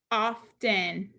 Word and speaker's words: often: This word is often.